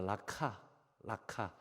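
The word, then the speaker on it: 라가: 그래서 여기서 레카라고 하는 아람어를 헬라식으로 음역을 해보면 라카라고 발음이 돼요.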